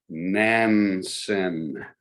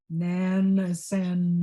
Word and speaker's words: Nansen: It's Nansen. Nansen.